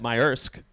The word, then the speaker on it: Maersk: And my belief is that Maersk, that's how you pronounce it.